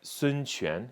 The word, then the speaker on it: Sun Quan: But Sun Quan is how you say this word.